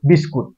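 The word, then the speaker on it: biscuit: আমরা নিয়মিত উচ্চারণ করি বিস্কুট এবং লেখাও থাকে এরকম এটার উচ্চারণ বিস্কুট না এটার উচ্চারণ হবে বিস্কিট বিস্কট কিট না ক্যাট বিস্কিট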